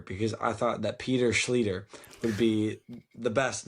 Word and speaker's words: Schlueter: I thought that Peter Schlueter would be the best name ever. She didn't go for it, No. But there is now an easy way to remember my name. It rhymes with Peter.